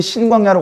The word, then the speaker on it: 신광야: 자, 그러더니 신광야로 갔어요. 신광야. 이 신은 한문이 아니고요. 저쪽 히브리어 발음입니다.